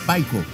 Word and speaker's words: Psycho: Sí, no es Psycho, es Paico. Psycho, ¿qué se escribe así? Se escribe así, me lo digo en español, Paico.